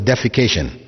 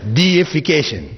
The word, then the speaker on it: deification: that word in English please don't pronounce it as defecation right because that has a whole different meaning altogether it's deification which means making something